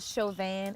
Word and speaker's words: Chauvin: to throw the anyway it's not Chauvin it's Chauvin show then Chauvin I think I said it right yeah you did